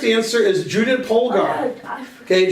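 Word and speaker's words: Judit Polgár: cuz she didn't eat yeah thank you for mispronouncing it okay the correct answer is Judah pogar okay Judah pogar was top 10 in the world and she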